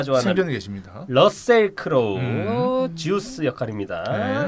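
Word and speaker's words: Zeus: 러셀 크로우 주스 역할입니다. 네. 이 미국식 발음은 주스더라고요. 그러니까요. 제우스가 아니고 쪽, 예. 자꾸 주스 그래가지고.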